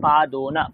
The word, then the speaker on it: পাদোন: পাদোনা উচ্চারণটা কেমন হবে পাদোনা পাদ প্লাস উনো আমরা বলি না 49